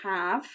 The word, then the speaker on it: have: have as in you have a pen or pencil ready to share ah have but even though that is silent it still needs to be there it's spelt h h-a-v-e have well done you spelled